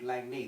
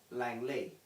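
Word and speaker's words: Langney: poor pronunciation in esport there's an area called langni that's with an n not an l and yet they all say langley now i can only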